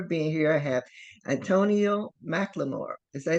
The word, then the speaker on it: McLemore: I have Antonio McLemore. Did I say that right? Yeah, she said it right. All right. Kind of like the rapper, but not Oh, spelled the same.